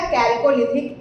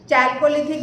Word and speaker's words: कैल्कोलिथिक: ताम्र पाषाण काल या कैल्कोलिथिक एज। चैल्कोलिथिक भी इसको प्रोनाउंस किया जा सकता है।